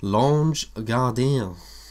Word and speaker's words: L'Ange Gardien: And I'm vaping L'Ange Gardien. That is how you say it. Because of French and that.